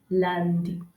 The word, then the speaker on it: lundi: Lundi, lundi, that is Monday.